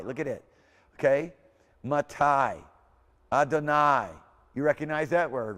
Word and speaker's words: Adonai: Here's those words that got the syllable having a sound with the IE, like in Thai. Look at it. Okay? Matai. Adonai.